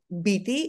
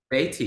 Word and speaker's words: Beaty: again when you go and see bitty or Betty Betty you said it right yeah okay yeah at